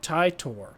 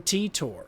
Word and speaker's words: Titor: I say John Titor. That's the common pronunciation but the die hard fans call it tie tor or even tea tor.